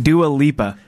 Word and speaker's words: Dua Lipa: Dua Lipa.